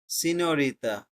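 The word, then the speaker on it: signorina: আমরা বুঝতে পারছি GN, এটার উচ্চারণ কি হবে সবাই একটু বলি। শুনতে পাচ্ছি না। সিনোরিটা। সিনিয়রিতা, তার মানে হলে নিও, সিনিও, নিও, নিও হবে উচ্চারণটা। ওকে, সাইম, নিয়চ্ছি।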